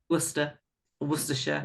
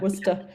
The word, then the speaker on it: Worcester: Steph lives in Worcester. Did I say that right? Worcestershire. Worcester. Don't worry, nobody can pronounce it.